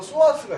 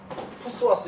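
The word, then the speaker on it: psoas: 근데 이 2개 나오는 케이스 중에서 소아스가 있어요. 소아스 장요근 허리가 뒤지가 뻗었단 말이에요. 오른쪽 소아스가 떨어졌어. 이게 P자는 묵음입니다. 푸스와스 이렇게 읽으면 안 돼요.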